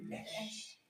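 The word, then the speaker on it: אש: Esh. C'est le feu. C'est magnifique. Voilà, le feu. Esh. Tu vois ça? Le feu. Esh. On ne dit pas H. Esh.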